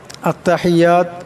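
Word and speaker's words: التحيات: আত্তাহিয়াতু, আত্তাহিয়াতু, এখানে বড় হা আছে, আওয়াজটা গলা থেকে আনতে হবে। আত্তাহিয়াতু লিল্লাহি, এখানে আল্লাহ লামের ডানে জের আসছে, আল্লাহ লামকে পাতলা আওয়াজে পড়তে হবে। আত্তাহিয়াতু লিল্লাহি ওয়াসসালাওয়াতু ওয়াত-তাইয়্যিবাত, ওয়াসসালাওয়াতু,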